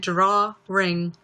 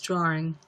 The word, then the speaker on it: drawing: you're not hearing things I was pronouncing it draw ring but it's drawing drawing oh my god